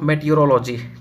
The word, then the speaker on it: meteorology: ठीक है, देखो यहाँ पे थोड़ा मिस्टेक हो गया है, मेट्रोलॉजी नहीं होता है, बहुत लोग ऐसे इनको प्रोनाउंसिएशन करते हैं, मेट्रोलॉजी नहीं मेटीरोलॉजी होता है।